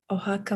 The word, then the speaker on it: Oaxaca: in which i will need your help to pronounce yes of course it's in oaxaca mexico ohaka mexico brilliant i need to learn spanish very